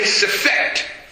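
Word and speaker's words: Sefekht: Everybody say Sefet.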